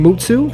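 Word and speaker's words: 六: 6 is viewed as an unlucky number as its pronunciation mutsu sounds like the word for nothingness.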